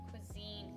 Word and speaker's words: cuisine: Kosin? It's pronounced cuisine, Hina. It means food.